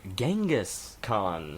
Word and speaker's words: Genghis Khan: So, that leads us to Genghis Khan. Stress on the gang, because that's how it's spelled.